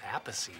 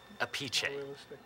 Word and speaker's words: Appice: it was like pronounced apathy or something like that technically if it's the Italian pronunciation it's a peachy sure that's him this